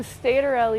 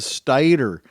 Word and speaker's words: stator: scuda podcast the statorle is the next generation of micro mobility solutions that's right you heard her correctly scooter head she said stator as in rhymes with tater s-t-a-t-o-r stator l-e capable